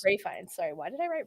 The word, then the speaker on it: Ralph Fiennes: Ray Fiennes. Ray Fiennes.